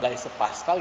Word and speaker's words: Blaise Pascal: Makanya ada rumus atau cara yang ditemukan oleh Blaise, bacanya gimana? B. Pascal gitu. Namanya tuh Pascal, Blaise Pascal gitu.